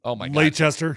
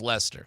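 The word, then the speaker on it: Leicester: Payeyton Lancaster uh Lester. Lester. Lester. Yeah. But it's really pronounced Lchester. It's L E I C E S T E R. Who knows? But it's pronounced Lester.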